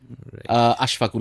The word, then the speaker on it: আশফাকুল: উনি আমাকে ফোনটা দিচ্ছেন আমার নামটা উনি সঠিকভাবে উচ্চারণ করেন না আশফাকুল আমার নাম তো স্বাভাবিকভাবেই নামটা আশরাফুল 99% বলে ফেলে যখন নামটা রং বলে